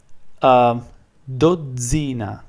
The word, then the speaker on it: dozzina: Okay, here we have the same sound, but because the consonant is double, we pronounce two consonants.